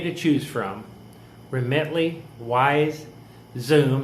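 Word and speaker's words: Xoom: choose from remently wise Zoom that's spelled x-o-o-m and Western Union are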